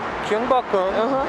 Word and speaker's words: Gyeongbokgung: So I know that in English, Gyeongbokgung is a very long word.